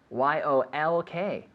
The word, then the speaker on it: yolk: don't know the yolk how you spell it y-o-l-k yolk y-o-l-k yolk with the silent alley yolk yolk is the protein